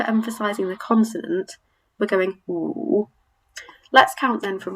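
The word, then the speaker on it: 五: And number 5 is pronounced woo, woo. So again, we don't really have a similar pronunciation. It's a bit like if you made the noise of an owl, to wit, to woo, woo, but it's really woo, woo.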